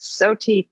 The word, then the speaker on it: SOTI: And am I pronouncing it correctly? You are pronouncing it correctly. SOTI, hey, yes.